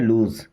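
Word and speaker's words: lose: विन का opposite जो word होता है वो होता है लूज, क्या होता है लूज, लॉस नहीं पढ़ते लूज, लूज का मतलब होता है हारना।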